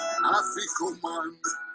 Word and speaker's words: Afikoman: Afikoman, that's how it's said.